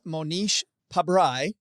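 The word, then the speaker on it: Mohnish Pabrai: You begin the book with Monish Pabry, I believe. Is that how you say it? Beautifully pronounced, Joe.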